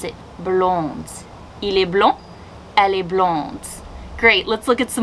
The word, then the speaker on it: blond: that play great ellie blond blonde did you notice that blond blonde in french the consonants at the end of words are usually going to be silence however when the word